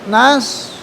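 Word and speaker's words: نصر: Nas bukan nas ya bukan masuk kepada sa tapi nas kan sh nas.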